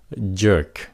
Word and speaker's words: jerk: Các bạn nhớ nhấn âm nó, jerk, nếu nó chậm thì các bạn phát âm K phía sau nó, jerk, mà nếu nó nhanh thì các bạn chỉ cần ngắt cái hơi thay, jerk, nhẹ thay, jerk.